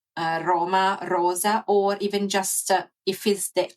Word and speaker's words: Roma: to pronounce is to put the D instead of an R. So even with um other word like Roma we can train our